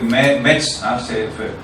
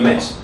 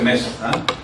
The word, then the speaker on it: Metz: Para mí siempre Metz, la región de Metz. No, y ella dice Metz. Entonces es que se dice Metz aujourd'hui porque Metz recuerda la época de la ocupación alemana.